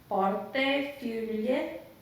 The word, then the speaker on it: portefeuille: Because in the French, the one you sent me in the euros is portefeuille.